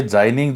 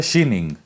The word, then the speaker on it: Xining: तो हिंदी में ट्रांसलेट करके जाइनिंग लिख दिया, लेकिन इसका जो सही में उच्चारण है वो है शीनिंग।